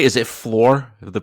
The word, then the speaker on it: Fluor: Is it floor of the pronunciation and what you guys do? It is. Yes. Yeah, that's Yeah, it's floor.